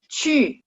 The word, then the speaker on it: 去: Lanjut, 去 ingat Q ketemu U itu bacanya 去. Kok berubah ya? Sebentar, saya hapus dulu, saya tulis ulang. 去 QU. Mulutnya bulat.